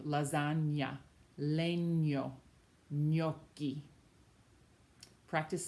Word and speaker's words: gnocchi: When you see a GN combo in a word, that sounds like a ny, like the word you know, lasagna, or the English word canyon. It's like an NY sound.